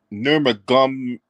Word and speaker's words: Nurmagomedov: Asked about a fight in Vegas 2 months earlier, where he conceded to Khabib Nurmagomedov. How you pronounce that shit?